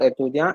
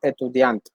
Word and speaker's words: étudiante: It's not étudiant, étudiante.